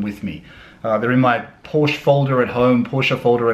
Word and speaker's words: Porsche: that I say Porsche I know that Porsche is the right way to say it I sometimes I say Porsche sometimes I say Porsche I nobody you guys don't care there are some people out there like this person who is reminding me that it's a two syllable word well thank you so much for that I know it's a two syllable word Porsche ah nice one anyway